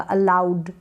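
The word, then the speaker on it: allowed: Double L को ल पढ़ रहे हैं और ये जो ओ डब्लू है इसको आउ करके पढ़ रहे हैं, आउ बोल रहे हैं, अलाउड यानी अनुमति।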